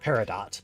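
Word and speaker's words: Peridot: Um, well, Steven Universe says it paradot, but I I say it parido. That's a cucumber quest. The witch named Parido goes so far as to correct the dark lord on the pronunciation of her name.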